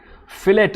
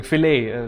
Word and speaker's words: Filet: Fillet. Oh, Fillet is asking. Filet. Let's use the correct pronunciation.